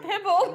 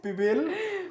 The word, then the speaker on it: pibil: It's not pibble. We're having another session, which is La Gringa pronounces. Pronounce it again. Pibble. She's almost wanting to say pitbull. Pebble. Pebble. It's pibil.